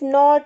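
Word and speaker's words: knot: knee, knife, नॉट, नो, तो के common है, ये के साइलेंट होता है इन सब में, ये बात इसमें कॉमन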